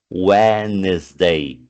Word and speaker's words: Wednesday: Observem que o D, o primeiro D, a gente não fala, ó, Wednesday.